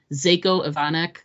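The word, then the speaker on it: Željko Ivanek: I just wanna I love some uh you pronounce his name it's zako zako ivanek and he's great he's a well-known character actor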